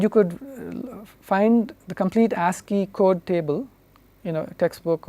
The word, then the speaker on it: ASCII: code or the ASCII code this is typically pronounced ASCII asking stands for the American Standard Code for